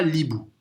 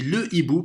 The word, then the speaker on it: hibou: On ne dit pas l'hibou, on dit le hibou parce que c'est un H aspiré. On a deux H, H muet et H aspiré.